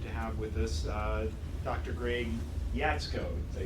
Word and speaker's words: Greg Jaczko: Greg Jaczko.